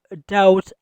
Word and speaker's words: doubt: we have doubt on Umar. we have doubt on Umar. doubt ویل کیږي شک. په doubt کې بی نه تلفظ کیږي بی سایلنٹ ده.